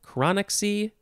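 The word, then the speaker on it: chronaxie: our last word is chronoxy chronoxy chronic c you could spell it c-h-r-o-n-a-x-i-e i'll say chronic c you could also replace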